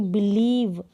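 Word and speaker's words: believe: तो वहाँ पर कैसे, जैसे यहाँ पर देखिए बिलीव, हमने बोला बिलीव, अब आपको बिलीव की स्पेलिंग लिखनी है, ई का साउंड आ रहा है, ये लॉन्ग आ रहा है, बिलीव नहीं बोल रहे, हम बोल रहे हैं बिलीव।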